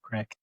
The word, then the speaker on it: Crake: Craig.